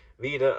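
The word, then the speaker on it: wider: prefix or there's actually two prefixes Vida and Villa well both pronounced Vita but one written with India Echo the other just India um one is against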